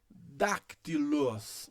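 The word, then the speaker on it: δάκτυλος: Isso, se você disse dactilos, dactilos, dactilos, dactilos, você leu certo.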